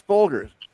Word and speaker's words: Folgers: How do you pronounce it? Folgers without a D. It's Folgers. You guys know it changed from Colombian coffee.